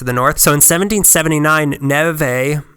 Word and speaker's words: Neve: north so in 1779 Nev a I'm just gonna you know what I'm going native I'm calling him Nev a you know it's only one more syllable what's one more syllable amongst friends yeah is that right gray